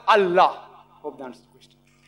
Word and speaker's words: Allah: They write it as I-L-A. But when you pronounce it, we have to tell them, pronounce it as Allah.